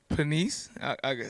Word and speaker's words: Panisse: Panisse, I said it right, all right.